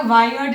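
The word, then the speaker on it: weird: वियर्ड, pronunciation का ध्यान दीजिएगा, वायर्ड नहीं होगा, वियर्ड।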